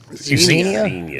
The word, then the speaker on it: Xenia: It's Xenia.